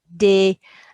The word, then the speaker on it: des: So ES on the end of a French word is eh. You got a D in front of it, de.